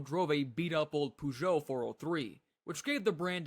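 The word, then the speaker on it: Peugeot: Pujo had a little more luck, but only a little. Do you know how we pronounce this? Puat.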